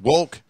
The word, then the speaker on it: Wolke: Wolke last name is pronounced woke he it was born